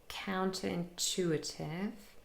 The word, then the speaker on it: counterintuitive: So again, we have 6 syllables, counterintuitive. And the main primary stress is on chu, containing a long vowel sound, but we also have secondary stress on the 1st syllable, count, and that contains also a long vowel sound because it's a diphthong containing ow. Okay, count and chew, those syllables are more stressed, and chew